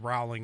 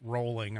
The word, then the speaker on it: Rowling: I I said Rowling. It's actually rolling. I guess rolling as in bowling.